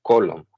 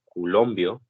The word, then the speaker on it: coulomb: que son conocidas como coulomb. Algunos, bueno, diferentes maneras de decirlo. Se escribe como coulomb. Algunos lo han españolizado y le dicen culombio. Entonces, ahí depende de usted, cómo lo quiera pronunciar.